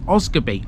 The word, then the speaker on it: Osgodby: got beat some linkage locals pronounce this as oscarby omitting the D in its name this is a simple